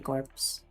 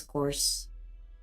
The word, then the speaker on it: corps: You belong to the Londinium citizen self-s salvation corpse. Course that's a that's pronounced as course.